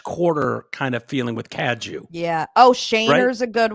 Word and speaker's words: Cadieux: I'm trying to think how Kaju is spelled, because that's like New Orleans style. CADIEUX. Yeah. Yeah. I think people would say Caddiu. Caducks.